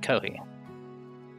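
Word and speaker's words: コーヒー: borrowed from another language you pronounce it kohi it sounds similar to the word coffee right this is normal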